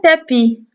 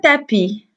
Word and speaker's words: tapis: t'as pita pita puis la lettre s ici elle ne se prononce pas toujours le mot tapie se